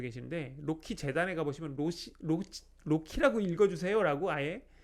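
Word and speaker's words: RoCE: 만드는 효과를 냅니다 이 거룩히 라고 읽으셔야 됩니다 로시 라고 읽으시는 분들 꼬모 체라고 읽으시는 분도 계신데 놓기 재단해 가보시면 모씨 로키 라고 읽어 주세요 라고 아예 명시가 돼 있어요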